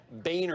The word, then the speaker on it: Boehner: and we'll get maybe we can get some bonerisms too that's how it's pronounced right if i got that right boehner that's correct okay correct so look around and